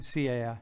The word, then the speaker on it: Cai: C-A-I. Cai. Yeah, see, that's one of those. Can you do that? Can you say that? It's like a C, it's like a T and a C.